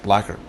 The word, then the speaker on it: blackguard: is an interesting word it's one of those words it doesn't sound the way it's spelled it's spelled b l a c k g u a r d black guard but it's pronounced blacker and it means a